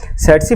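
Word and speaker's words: tsetse: सेट्सी फ्लाई को जब आप बोलेंगे तो यहाँ पर इसका जो पहला टी है आप इसको साइलेंट कर देंगे तो बड़ी आसानी से आप इसको याद रखेंगे। ये हो गया सेट्सी फ्लाई।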